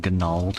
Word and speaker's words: Gnald: Niacere and Gnald. So we are roughly. The G is silent. Right. You don't pronounce it like Gnome? No, we don't.